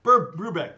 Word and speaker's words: Brubeck: that's not right it's something like that though Brubeck thank you Dave Brubeck ah thank you Catherine